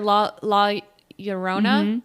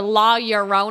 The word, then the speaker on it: La Llorona: So just mosey on over to the Women in White or La Llorona. Did I say it right? Yeah, you did. Or La Llorona.